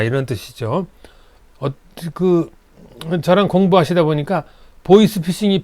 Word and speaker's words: 보이스 피싱: 저랑 공부하시다 보니까 보이스 피싱이 발음이 잘 안 돼서 보이시 피싱, 보이시 이렇게 하시는 분도 계세요. 발음을 잘 연습하세요. 보이스입니다. 보이시 아니에요. 보이스 피싱.